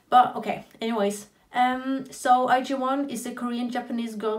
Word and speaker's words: IZ*ONE: sense but anyways and it's apparently IG one that's apparently how you pronounce the name which is kind of frustrating because it's not how it's written I feel like a